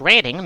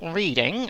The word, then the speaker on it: Reading: to perhaps say reading now reading is pronounced reading not reading as some have you northerners my and you might have